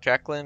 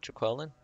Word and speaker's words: Jacqueline: Is it Jacqueline or Jaqueline? I've heard it pronounced both ways. I think females usually pronounce it Jacqueline and males usually pronounce it Jaqueline.